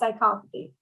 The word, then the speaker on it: psychopathy: There's something called the dark triad of human behavior, and it's narcissism, Machiavellianism, and then psychopathy, which is like being a psychopath, but it's pronounced psychopathy.